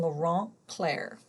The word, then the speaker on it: Laurent Clerc: about your team's discussions regarding Thomas Hopkins Gallaudet and Laurent Clerc. A lot of you have problems with the pronunciation.